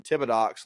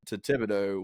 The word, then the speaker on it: Thibodaux: university known as Nicholls State University down in Thibodaux, Louisiana? First of all, please pronounce my hometown My correctly. bad. Okay, on this Thibodaux.